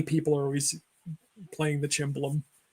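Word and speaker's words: cimbalom: are always playing the cimbalum. So, or cymbalum. I got to say it right. Cymbalum. Cymbalum. I'm thinking Italian. It's Hungarian. So, all right, and look it up.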